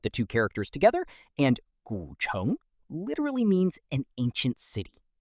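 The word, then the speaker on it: 古城: Our next word is gǔchéng, pronounced gǔchéng.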